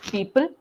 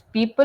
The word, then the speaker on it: people: And similarly, with people, it's people and not people, or we don't have to stress.